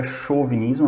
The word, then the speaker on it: chauvinismo: Um é o chauvinismo, escreve chauvinismo, mas pronuncia chauvinismo, é uma palavra de origem francesa, e a xenofobia.